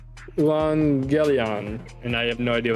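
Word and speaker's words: εὐαγγέλιον: And so it's Euangelion, and I have no idea what that means. The good news and gospel. Okay. Euangelion.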